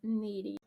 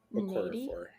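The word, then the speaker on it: Nnedi: I pronounce her name in my head Needy. Okorafor. Needy. Okay. Like a long N.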